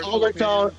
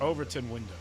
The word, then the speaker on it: Overton window: That's that's called the overtone. The overtone uh window. Overtone. I think that's how you say it. Overton. Overton window.